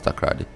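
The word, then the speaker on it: Takoradi: It says, the chief executive officer of Nat Brown's Hope Clinic at Takrady. How do you pronounce Takrady?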